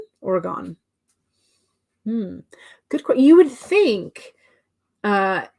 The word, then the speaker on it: Oregon: uh Amanda says LOL people say Oregon wrong as well they always say oh okay so uh Gone versus gun Oregon Oregon hmm you would think